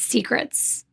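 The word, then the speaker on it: Seacrets: The waitress was like, "Hands down, it's secrets." Now, this place is spelled s e a c r e ts. Secrets like the sea.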